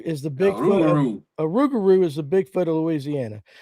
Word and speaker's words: Rougarou: Jeff Brazil called it a ragaroo. Rougarou. Rougarou is the Bigfoot. Rougarou. A rougarou is the Bigfoot of Louisiana.